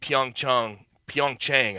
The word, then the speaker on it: Pyeongchang: But that's a 42% drop from the low-rated Pyeongchang, I believe is how you pronounce the Pyeongchang Olympics in 2018, which was the previous lowest viewership up until that point.